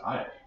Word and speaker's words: Io: We've got Jupiter, and Jupiter has a bunch of moons, one of which is called, I think it's pronounced Io.